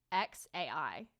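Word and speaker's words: X Æ: it up it's pronounced x as in the letter and then a i as in like artificial intelligence and then i don't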